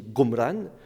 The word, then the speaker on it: Qumran: Au XIXe siècle, on pense que le nom arabe Qumran, qui peut se prononcer aussi Gomran, pourrait dériver de Gomorre,